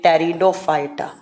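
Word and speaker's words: Pteridophyta: Next आपका आता है टेरिडोफाइटा जो लिखा किससे जाता है? पी से। और प्रोनाउंस किससे किया जाता है? तो टी से। टेरिडोफाइटा।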